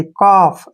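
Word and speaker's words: calf: पढ़ना है काफ डायरेक्टली काफ ऐसे काफ पढ़ें काफ क्योंकि एफ से पहले एल आया तो एल जो है साइलेंट रहेगा इसमें इसमें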